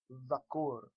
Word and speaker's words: dhakur: And it is pronounced by placing the tongue behind the top row of teeth and blowing air between the space between those teeth and the tongue.